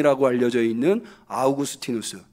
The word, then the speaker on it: 아우구스티누스: 신학의 기초를 놓은 온 어거스틴이 라고 알려져 있는 아우구스티누스 원래 이 사람 분명히 아우구스티누스 예요 야구 스틴 어스를 이제 미국식 발음으로 하면 얻었으니 라고 하게 되는 거죠 이 아우구스티누스가 빛과 관련해서